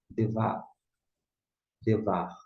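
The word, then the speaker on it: דְּבַר: Devar, devar. Lembrando que você pode pronunciar tremulando esse R aqui, ó, final, tá certo?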